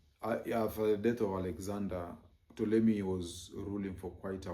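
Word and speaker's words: Ptolemy: So he had one great general called Tommy. Tommy is written with a PT but the P is silent. And uh after the death of Alexander Tolei was ruling for quite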